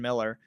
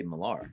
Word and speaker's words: Miller: A lot of people say Millar. Millar? You got No, it right. It's Miller.